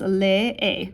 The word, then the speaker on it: lee: That sometimes throws students off because we have these two E's in a row, but you pronounce both of them. Carlos lee. Carlos lee.